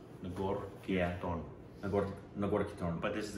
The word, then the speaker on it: Nagarkirtan: Nagarkirtan. That's it, phonetically, Nagarkirtan.